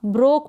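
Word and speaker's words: broke: और ओ को ओ, के को क, के को क, और ई का प्रोनाउंसिएशन नहीं होगा, ब्रोक पढ़ा इसको।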